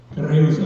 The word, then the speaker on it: Creuza: Pronounce your wife's name. Creuza.